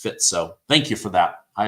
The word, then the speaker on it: Fico: Fico is pronounced Fitzo.